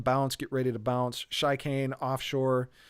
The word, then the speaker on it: Chicane: get ready to bounce shy kane offshore the chicane really is the right way to say it offshore and left field